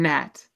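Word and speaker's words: Hnat: The H is silent in Nat.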